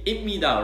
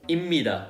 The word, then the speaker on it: 입니다: Okay, so number one is when there's pip before the mim or nin, then it always changes into mim. For example, 입니다 to 입니다, as I just said.